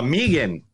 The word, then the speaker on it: M3GAN: me three again Megan how do you pronounce it it's Megan but but I'm called